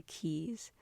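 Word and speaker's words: Caius: Nicole is engaged to Keys spelt like the university and pronounced like key from Shiny who has been very neglectful of their relationship to put it lightly.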